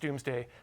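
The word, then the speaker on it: Domesday: but said uh or pronounced doomsday but written Do's day and uh it's uh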